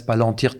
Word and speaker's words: Palantir: haute technologie qui s'appelle, je vais le prononcer à la française, Palantir Technologies, sur un logiciel de défense que Safran ne pouvait pas fournir.